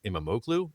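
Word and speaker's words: İmamoğlu: I'm going to butcher it, but I think it's Imamoglu, I think that's how you pronounce that.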